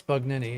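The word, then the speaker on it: Bugnini: bug nin Ni is the correct way to pronounce it. Bug Nini. So So people It's Bug Nini.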